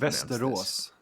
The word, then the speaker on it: Västerås: How do you pronounce Västerås.